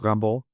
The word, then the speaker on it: Rimbaud: It's spelled Rimbaud, r a r i m b e a u d, but the name is pronounced Rimbaud.